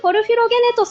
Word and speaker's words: Porphyrogenitus: It's the Palace of Constantine Porphyrogenitus! Excellent pronunciation!